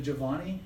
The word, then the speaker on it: Giovanni: Is it Giovanni? Is that how you say it? Yes. Giovanni, can you turn those lights off?